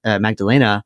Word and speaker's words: Magdalena: more things because when magdal Magdalena because you pronounce the e at the end of German words like goes down gets